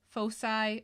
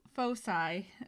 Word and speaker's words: foci: Plural can either be foci or foci. I guess I actually had to look this up because I've heard it pronounced both ways. I guess the American pronunciation is typically foci and the British pronunciation is foci. So there's just different ways cultures have taken this word from its Latin base.